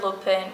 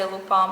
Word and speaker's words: Lupin: show then we have lupa or lupin whatever you want to pronounce it it's french so i say lupone but you can tell